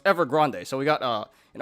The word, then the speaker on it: Evergrande: grand actually it's pronounced evergrande apparently i've been calling it evergreen this whole time but apparently it's ever grande kind of sounds spanish you know um i